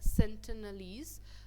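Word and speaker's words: Sentinelese: Okay, the सेंटिनलीज, इसका जो pronunciation है वो क्या है, सेंटिनलीज।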